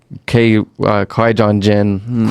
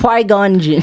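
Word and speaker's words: Qui-Gon Jinn: If you think about it, Obi-Wan or Ki Jin, Qui-Gon Jin, I never say his name right, guys.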